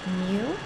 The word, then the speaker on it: mu: looks like this and the last one is pronounced mu and it denotes the mean of all values